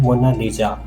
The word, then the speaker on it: Mona Lisa: लेकिन इटालियन में इसकी करेक्ट प्रोनंसिएशन है मोनालिजा।